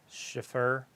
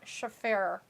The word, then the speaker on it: Shafir: I don't know how to pronounce her name, but she's fighting Thunder Rosa. Schiffer. It's Marina Shafir. Shafia.